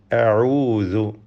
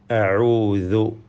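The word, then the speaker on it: أَعُوذُ: അഊദു, ഇതിൽ ഐന്, ദാല് എന്നീ അക്ഷരങ്ങൾ കൃത്യമായ മഖ്റജിൽ നിന്ന് ഉച്ചരിച്ച് പാരായണം ചെയ്യുക. തെറ്റുകൂടാതെ അത് വ്യക്തമായി ഉച്ചരിക്കണം. ഐൻ തൊണ്ടയുടെ മധ്യവും ദാൽ നാവിൻ്റെ അറ്റവും മേലെ മുൻപല്ലുമാണ് മഖ്റജ്. അഊദു ബിറബ്ബി, റാഇൻ്റെ തഫ്ഖീം സൂക്ഷിക്കണം.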